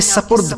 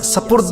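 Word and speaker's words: سپرد: फुला को मैंने आपके सपद किया सपद नहीं होता सिपद होता है इसी तरह कहते हैं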